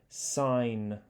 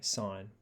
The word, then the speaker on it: sine: think of it as sine that word that's how it's pronounced now a typical thing is it's a sin to say sin and some people still do it so you want to say sign where does the o